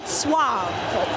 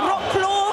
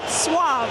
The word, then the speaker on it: Wrocław: So, it's something to the effect of Vuave. So, I know it looks like rock claw. That's not quite it. Vuave, guys.